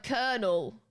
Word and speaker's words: colonel: Oh, and colonel. But that's both Americans say that too.